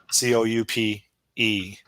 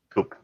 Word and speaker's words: coupe: gle amg 63 coupe c-o-u-p-e coop right yeah well there's a theoretically it's pronounced coupe oh really is this i think it's a french word or something huh well maybe not